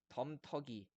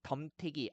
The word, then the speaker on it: 덤터기: 왼쪽에 덤터기, 아지, 랑이 이렇게 나와 있는데 이런 단어들의 이모음 역행동화를 적용해 가지고요. 가랭이, 건데기, 덤태기, 아지, 랭이 이렇게 잘못 발음하고 쓰는 경우가 많은데 다 틀린 말이에요.